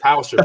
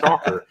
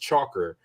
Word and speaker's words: Tschacher: He said, "Is this Mark Tauscher's brother?" Because the way your name is spelled, no, I man, thought it was Tauscher, but it's Tschacher, Andy. So Andy is pronounced Tschacher, not Tauscher.